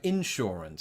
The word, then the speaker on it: insurance: difference is the word insurance I put the emphasis on in uh instead of saying insurance